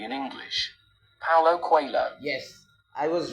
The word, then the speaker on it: Paulo Coelho: We are looking at how to pronounce this name correctly in English. Paulo Coelho.